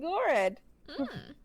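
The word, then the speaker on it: Goredd: night in a land called gored H because it rhymes with Fred which is name of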